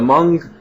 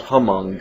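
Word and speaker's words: Hmong: so every time the mung New Year comes around uh I get a couple of angry comments because I pronounce the h it's a silent h it's not Hong it's m and that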